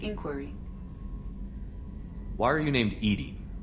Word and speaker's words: EDI: have a specific inquiry why are you named ed ed is the phonetic pronunciation of Ed I that is an acronym